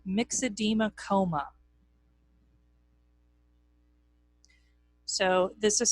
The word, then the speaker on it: myxedema: There's something called myxedema coma. So this is spelled M-Y-X-E-D-E-M-A, myxedema coma.